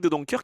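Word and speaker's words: De Doncker: même quelque chose al je prononce comme ça parce que c'est une équipe belge et c'est Eric de donker qui revient donc et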